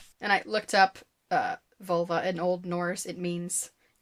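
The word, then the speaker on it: völva: Who claims to be a vulva, which is an unfortunate Why is that the word? It's spelled with an O, not a U. It's still pronounced vulva.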